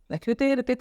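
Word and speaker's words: rue: Okay, here the word is रू। अब देखिए, कहीं पे प्रोनाउंसिएशन आर का होता है ह, कहीं पे ख का साउंड होता है, तो यहाँ पे रू मीन्स स्ट्रीट।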